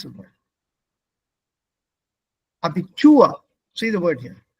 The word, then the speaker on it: Abitur: Abitur. See the word here. All of us know the word Abitur. Aha. Abitur. Ich mache Abitur. Nein, ich mache Abitur. The stress is on the second half.